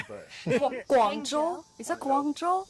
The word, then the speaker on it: Guangzhou: I don't really necessarily know the pronunciation, but Guangzhou? Is that Guangzhou?